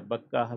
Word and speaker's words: بکہ: مبارکن جو بابرکت ہے۔ مکہ اور بکہ ایک ہی لفظ ہے، بکہ بھی تلفظ ہے اس کا، مکہ بھی اس کا تلفظ ہے۔ ایسا زبانوں میں ہوتا